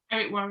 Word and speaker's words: Eric Worre: Eric Worre, yeah.